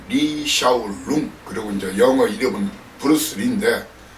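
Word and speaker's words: 李小龍: 그쪽 발음은 리샤오룽, 그리고 이제 영어 이름은 브루스리인데, 이미 고인된 무술 배우죠.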